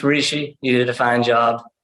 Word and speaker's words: Rishi: Yeah, it's Rishi.